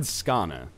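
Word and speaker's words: Skåne: I said Skana. And apparently that's, like, right. A bunch of people were saying that you were way closer. You're still wrong, but at closer. Least the great Khan Seljuk.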